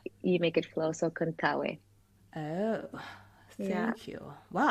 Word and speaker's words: Contaoe: So the pronunciations is that you say every vowel as they sound. So if you were to say Contaoe, Contaoe. yeah, Contaoe. and then yeah, you make it flow. So Contaoe.